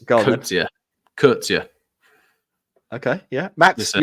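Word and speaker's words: Coetzee: It's Kurtzia.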